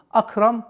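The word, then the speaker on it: أكرم: Раббукаль Хамза у нас является мягким звуком. Акрам. Акрам нет. Хамза никогда не произносится твердым звуком. А никогда не может быть.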